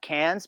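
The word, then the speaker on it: Cairns: in this little town called uh Cans, but it's spelled C A R I Ns.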